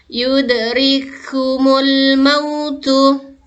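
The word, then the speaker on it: يدرككم الموت: Jadi cara membacanya adalah ditasydidkan, ya. Huruf kaf yang pertama dimasukkan ke huruf kaf yang kedua berharokat tersebut. Oke, kita ulang sama-sama. Yudrikumul mautu.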